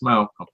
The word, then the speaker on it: Mal: says my name wrong if somebody someone my age or like my dad's age get wrong then I'm like no it's Mal yeah yeah one of